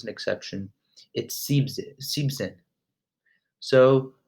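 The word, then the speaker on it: siebzehn: exception it seems it seems in so for 17 and 70 it's not see Ben Zen or Seon zig it seems it and seems in so just keep no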